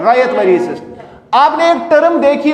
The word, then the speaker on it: ryot: किया जाता है, उसको रायत ही बोलते हैं। क्या बोलते हैं? तो इस वजह से ये रायतवरी सिस्टम जो था, इसकी प्रोनाउंसिएशन आप रायत पढ़िए, RYOT, रायोत नहीं पढ़ेंगे आप, ये रायतवरी सिस्टम है।